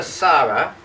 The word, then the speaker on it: Sara: call her call her Sara s a r a that's the Italian pronunciation Sara de Mito belly